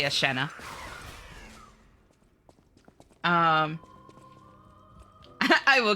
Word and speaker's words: Eshenna: Um, how's your name pronounced? Miss Miss Asha. I say Asha. Asha. ish. Eshenna. Yeah, some people say Asha. Doesn't really bother me, but that's not how I pronounce it. I say Asha.